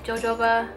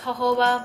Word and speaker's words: jojoba: say the right thing it's the jojoba oil pahoa jojoba I think it's pronounced ho ho Bo but I like saying